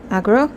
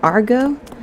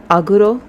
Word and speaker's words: Agro: When the game first came out, a lot of people thought the horse's name was Argo, and that's mostly because of the Japanese voice actor's pronunciation of the katakana of the name.